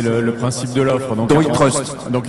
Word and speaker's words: iTrust: Faut que je prononce comment? À la française. Ouais, on va rester souverain puisque c'est le principe de l'offre. Donc iTrust. Donc iTrust, allez.